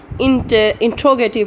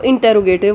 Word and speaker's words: interrogative: सबसे पहले तो हम गलती कहते हैं कि ये इसको इंटरोगेटिव बोलते हैं, ठीक है. इसकी प्रोनाउंसिएशन है इंट्रोगेटिव, लेकिन हम हैबिचुअल हुए हैं इसको इंटरोगेटिव बोलने के, ठीक है.